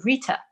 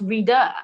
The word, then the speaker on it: Rita: moved to the us my name's very simple rita but in the u.s it's pronounced reader and i'm like yes